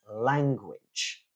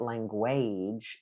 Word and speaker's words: language: Another typical one is language. Yeah, it's not language, it's language. Language.